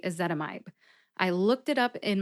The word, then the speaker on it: ezetimibe: long and short vowels with a zetamide you have to use a long I sound in the last syllable my because the pronunciation guide tells me that when there's an i in the last syllable and the syllable ends with the letter E the vowel will have a long sound that means it's a